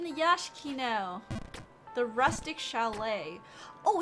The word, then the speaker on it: chalet: Because it's French, so it's CH, a chalet.